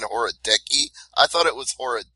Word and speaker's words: Horodecki: ago he kept saying hori I thought it was horod deski who's got it right uh you know the the actual pronunciation is is horoi but it is what